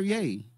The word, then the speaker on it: Ye: they say ye though is it ye or yay it's yay his name is yay this the problem with